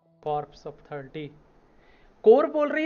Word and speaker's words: Corps: कॉर्प्स ऑफ 30। कोर बोल रही है, कॉर्प्स बोल रही है। यहाँ कॉर्प्स लिखा है, वहाँ पे कोर बोल रही है इसको। मे बी पी साइलेंट रहता होगा।